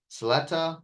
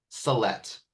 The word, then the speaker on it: Salette: I want to say Saletta, but I know I'm wrong. One more time, please. It's a let. Salette. Yeah. I'm making a note. I'm going to write it down phonetically. Salette. That's easy. It actually looks like Salette.